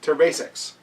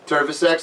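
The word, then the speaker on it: terviseks: It's called a tervesex. So I say turvisex, like turtle sex. He but says turtle. I say it wrong, so all my Estonian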